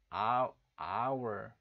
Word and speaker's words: hour: 그런데 발음을 들었을 때, our, 그러니까 모음으로, 아라는 모음으로 시작한단 말이에요.